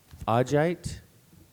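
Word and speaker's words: augite: Two pronunciations. Agite or agite. What was the first pronunciation again?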